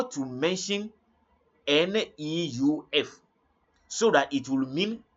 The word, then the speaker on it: neuf: In lesson 6, I taught how to mention NEUF so that it will mean 9, and how to mention it so that it will mean new.